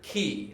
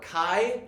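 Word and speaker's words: chi: X this is the Greek letter key or Kai you can pronounce it either way oh it's the key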